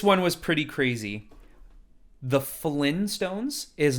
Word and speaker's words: Flintstones: We're the Flintstones. You can hear the T. You slightly hear it. Flintstones. Yeah. Flintstones. No one's ever saying Flintstones, but you can hear it if you say it properly.